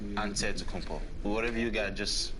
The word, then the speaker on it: Antetokounmpo: how you pronounce it you gotta say with the d so it's but in a greek way you say with the nt like antetokounmpo whatever you got just